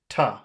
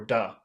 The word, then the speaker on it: to: But for listening, it's a good idea to get used to the fact that the word to a lot of times is pronounced ta or da, and it's very small.